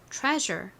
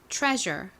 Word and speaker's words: treasure: 조금 어려우실 거예요 자 한번 눈으로 잘 보면서 발음 좀 따라해 볼까요 보물 treasure 한 번 더 해볼게요 좋습니다 자 한번 지워